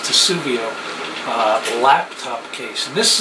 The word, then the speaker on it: Testudo: I've got the max Edition I think it's pronounced tuio uh laptop case and this is an incredible